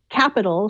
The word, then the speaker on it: Qapital: It's called Capital, spelled with a Q, Qapital.